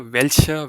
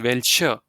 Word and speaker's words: welcher: To be honest, these both are pronounced the same way, because when a German word is ending with the alphabet R or Er, you don't pronounce it. Yeah, you just leave it as it is.